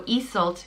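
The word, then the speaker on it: Iesult: And but when you do change those around, it does change the way it's pronounced and the meaning. So Iseult becomes Iseult, and Iseult means ruler of the ice.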